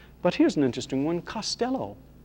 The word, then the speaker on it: Costello: here's an interesting one costello or to pronounce it more correctly costello costello now this is one